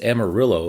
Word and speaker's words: Amarillo: the last one is Amarillo according to my wife the correct pronunciation is the Spanish word for yellow Amadeo so we American